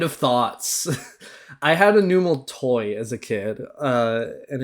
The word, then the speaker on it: Numel: Okay, Numel, or Nummel, however you pronounce it, I say Numel.